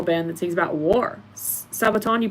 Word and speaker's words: Sabaton: Sabaton, you pronounce it right.